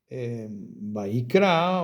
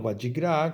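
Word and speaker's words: ויקרא: Y en este estudio que tenemos hoy, Vaikra o Vayikra, como se pronuncia, y llamó, Acá vemos que mucho más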